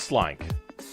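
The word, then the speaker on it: Slynk: Pretty sure that's meant to be Slink. They spell it with a Y, so it's Slink.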